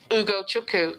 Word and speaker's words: Ugochukwu: It's a silent W, so you just go Ugo Chuku. Don't pronounce the W. Then you got it. Ah. Chukwu. Ugochukwu.